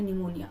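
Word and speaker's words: pneumonia: आपको पता होगा कि निमोनिया की स्पेलिंग जो है वो पी से स्टार्ट होती है ऑलराइट चलिए अब यहां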